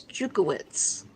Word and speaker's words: Jukowitz: Do you know how to pronounce her last name? I believe it's Jukowitz. Correct.